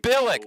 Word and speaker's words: Billick: It is Billick, just like Billick. the old Oh, Ravens coach, Brian how Billick.